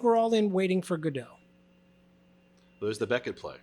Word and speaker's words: Godot: Well, just so you know, to use your state of mind, the proper pronunciation is Godot. Goddo. Believe So it or it sounds not, like God.